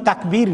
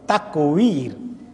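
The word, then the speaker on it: تكوير: তাকউইর মানে তাকবীর না, ব্যাসকম আছে ওয়া অনেক সময় বায়ের কাছাকাছি হয়ে যায় উচ্চারণ করতে, তাকউইর উইথ দ্য ওয়াও, আর তাকবীর হলো বা দিয়ে, তাকবীর মানে আল্লাহু আকবার বলা, আর তাকউইর অন্য শব্দ।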